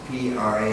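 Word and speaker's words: Phra: Yes, it's spelled P-H-R-A, but it's pronounced P-R-A.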